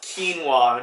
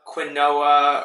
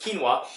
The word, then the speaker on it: quinoa: be talking about quinoa first and foremost it's pronounced quinoa not Quinn Noah or or Quinton wore whatever else you'd hear people call this it's pronounced quinoa and this is the kind of I eat